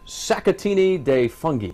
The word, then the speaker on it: Sacchettini di Funghi: Mitch Daniels from uh Zuma and he's making satini de fungi yes yes is right I finally got it